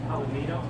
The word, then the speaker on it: palomino: see different amounts of palomino. Palomino is the main grape used in this. Can you spell that? Like jalapeno, but with an M.